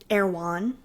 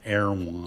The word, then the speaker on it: Erewhon: And how do you spell that? Awan. E R E W H O N. Oh, I would have never got there. Awan.